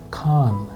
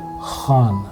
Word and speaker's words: Khan: If it comes from, if you use your blade of the tongue instead, it will sound like Khan, not Khan.